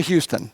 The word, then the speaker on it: Houston: I'd like you to bring up now Tricia Houston, pronounced just like the city, the COO of MMR Live.